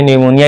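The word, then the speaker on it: pneumonia: देखिए पी निमोनिया नहीं बोलते हैं। निमोनिया इसको बोलते हैं।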